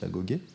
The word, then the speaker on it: agogé: Et donc, si vous voulez, l'école spartiate, hein, au passage, l'agogé, hein, ça se prononce l'agogé, n'était pas simplement une école qui servait à fabriquer des guerriers, ça fabriquait des citoyens.